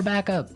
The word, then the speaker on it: back up: You have to say back up. Back up. Back up. Yeah. So both words are stressed at about the same level, hey?